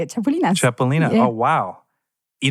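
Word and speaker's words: chapulines: That's how they say it, chapulinas.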